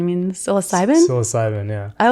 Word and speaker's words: psilocybin: um psycho Sullivan how do you say it psychosiliman means psilocybin psilocybin yeah I like psychos I'm not a